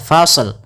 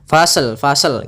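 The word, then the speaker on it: فصل: Tapi hati-hati jangan memantulkan shadnya, fasl. Misalkan fasal gitu ya, dengan pantulan shadnya. Hati-hati, tapi tetap dia menyempurnakan shadnya baru dimatikan lamnya.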